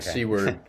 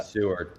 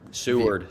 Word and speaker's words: Seward: Jack Seawward the uh Seward. Seward. Say it right.